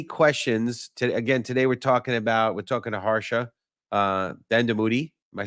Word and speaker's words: Harsha Dandamudi: If you have any questions, today we're talking to Harsha Dandamudi.